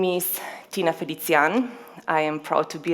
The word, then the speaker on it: Felicijan: How do you pronounce that? Felicijan.